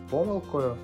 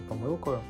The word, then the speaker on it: помилкою: рятівним колом До речі як правильно казати завжди чи завжди і чи є це помилкою чи помилкою відповідь проста обидва слова допускають подвійний наголос так само Просто запитати